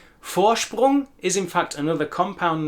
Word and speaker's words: Vorsprung: The V sound at the beginning of the word Vorsprung is another reminder of what we have already learned, that the V sound in German is more like an English F, but also listen to the S sound in there.